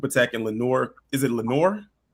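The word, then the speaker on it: Lenoir: Is it Lenor?"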